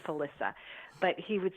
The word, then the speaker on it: Felissa: I'll become friends with he called me Felicia with Felicia Rose it's pronounced Alissa but he would say